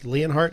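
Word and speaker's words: Leonhardt: going to be running against the incumbent Kent leanhart is how you pronounce the name yes so and this is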